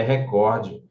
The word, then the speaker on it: recorde: é o substantivo recorde a pronúncia correta é recorde ela é uma paroxítona que não termina na